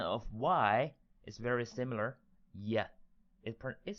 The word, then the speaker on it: 一: shape stand for itself is a flat tone very flat that means when we pronounce it we want we don't want our pitch or a volume to fluctuate keep it flat sounds like this we don't want this sound like oh no we want to sound like e yi yi that's it make it